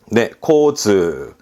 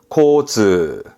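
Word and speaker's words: 交通: 단어로 볼게요 첫 번째 그렇죠 뒷글자가 통짜죠 교통입니다 발음은네 코즈 코즈 코즈 그렇죠 그럼 여기가 하나 더 붙습니다 그럼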